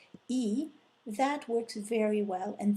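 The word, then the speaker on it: aiment: Il ou elle, you want to see ent, which by the way is not pronounced en, but simply e.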